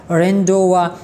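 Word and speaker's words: rendezvous: फिर अ अ रेंडवा रेंडवा इसमें जेड जो है ये साइलेंट है इसके बाद नो में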